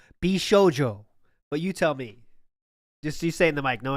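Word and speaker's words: 美少女: please read that word in the official Japanese pronunciation please I believe it's bishjo but you tell me yes yes yes bishjo just say a little closer there you go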